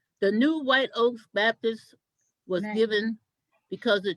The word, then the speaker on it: White Oak: you it doesn't say white oaks with an s it doesn't say uh it doesn't say whites oak i've heard people say white soak right it is white oak baptist church and it's because of